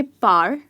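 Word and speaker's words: parliament: यस, इस word में एक वाई का साउंड आता है और वो यहाँ आता है. हम कहेंगे पार्लियामेंट. प्लीज़ रिमेंबर, ये वाई का साउंड ज़रूर आना चाहिए जब आप इस वर्ड को प्रोनाउंस कर रहे हैं.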